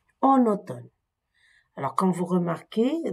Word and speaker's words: automne: la dictée 2 en automne alors quand vous remarquez donc automne il est il s'écrit avec mn mais le M ne se prononce pas seulement le la lettre ne qui est prononcé la journée est encore